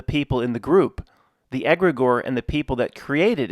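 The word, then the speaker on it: egregore: Egregor, pronounced egregor, is an autonomous entity that is created by the thoughts of multiple people working for a common goal.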